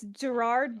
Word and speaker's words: Gerard: Is his name Jared or is it Gerard? It's Gerard, but British.